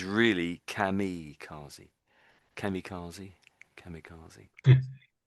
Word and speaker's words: kamikaze: I know there's an I there, but I think a lot of people would actually say kamazi, but I think technically it's really kamicazi. Kamikazi kamicazi kamicazi in our language with D.